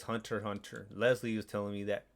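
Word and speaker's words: Hunter × Hunter: maybe leslie or someone corrected the hunter hunter thing because i always thought it was hunter x hunter and i actually watched that one yeah it's hunter hunter leslie was telling me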